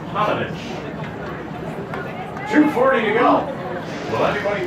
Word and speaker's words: Paunovic: Paunovic, pronounced Panovich.